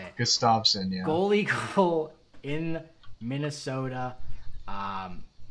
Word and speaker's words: Gustavsson: Gustafsson. Is that how you say it? Keep going. Try something different. Gustavsson. It- Gustavsson, that's how you say it. Gustafsson, yeah.